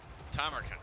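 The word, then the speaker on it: Tamurkhan: Tamarkan. That's the way you pronounce that.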